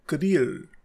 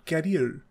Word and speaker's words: career: This word is नॉट कैरियर, इट्स करियर.